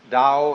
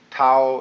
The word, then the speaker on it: Tao: called the da Tao pronounced da in the Mandarin dialect Tao in the changhai dialect